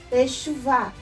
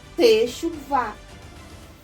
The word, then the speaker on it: Teshuvah: Tav, Sheva, Shin, Vav, com Shuruk, Shu, Vet e Rei, Teshuvah.